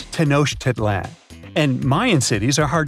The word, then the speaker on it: Tenochtitlán: Okay, it's Tenochtitlán. And Mayan cities are hard to pronounce too.